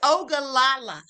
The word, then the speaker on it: Ogallala: Now, I have to see how to pronounce this because y'all know I can't stand it. Hold on. Okay, it's Ogallala.